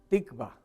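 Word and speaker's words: תקווה: tenemos esperanza es una palabra hebrea que se pronuncia tikvá y el significado de esperanza esa palabra tipa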